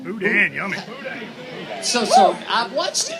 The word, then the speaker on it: boudin: I'm going to mispronounce it, but it's on the show. Boudin? Boudin, yummy.